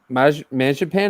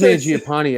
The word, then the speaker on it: Mangiapane: I think it's Mangiapane. I think is actually how you properly pronounce it. All right, so because Marziapane, it's literally how it's spelled, and I think somebody just scored.